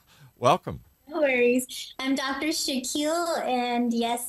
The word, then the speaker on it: Shakil: no worries I'm Dr Shaquille and yes it's pronounced like Shaquille O'Neal um I like to